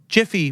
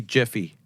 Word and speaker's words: Jif: and subliminally in our minds we picture the name wrong? Could be. I think so. What about Jiffy peanut butter? It's always been Jif. Jif. J-I-F. Yep, they say Jiffy.